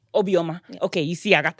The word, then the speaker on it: Obioma: so how do you say your last name obioma obioma okay you see I got that okay so